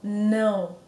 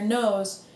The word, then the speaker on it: não: with these nasal vowels there's a reason it's called a nasal vowel your nose literally vibrates to the sound so no so if you put your fingers to your nose if you say it correctly no you're going to feel a vibration if you say it like in English no if you're going to say it like in English now there's no vibration so it's all about